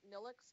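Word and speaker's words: Nilvx: of this week from Neelix publishing which is spelled ni lvx of course because it is and it's because Roman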